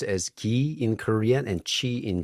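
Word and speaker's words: 기: energy I don't know okay so it's pronounced as ki in Korean and chi in Chinese and okay Please excuse me.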